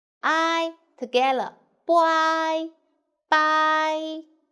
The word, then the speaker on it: 白: Boy, bye. And second tone.